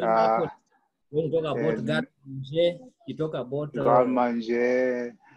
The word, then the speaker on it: garde manger: I normally hear people say garde manger. It is wrong. It is garde manger.